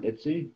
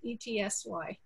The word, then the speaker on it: Etsy: was uh uh uh your stuff is on itsy or etsy is that how he pronounces etsy that's the etsy okay and uh now